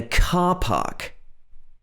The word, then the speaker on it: car park: is parked in a car park notice this long british ah sound car park it's like you're opening your mouth really wide to say this a car park but